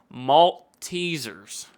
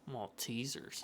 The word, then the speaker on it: Maltesers: Maltesers. Yeah. Confectionery product. Maltesers. Maltesers.